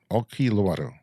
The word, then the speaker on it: Olkiluoto: Olkiluoto. Sure. 3, power plant is correct as pronunciation. I can say that it was very close to native speaker pronunciation.